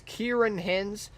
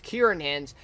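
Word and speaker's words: Ciarán Hinds: But anyways, performances by Jared Harris, Tobias Menzies, and I was told it's Kieran Hins, apparently, so I was pronouncing it totally wrong. Not a big surprise there, but anyways, it's Kieran Hins, plays Sir John, of course, and others, right?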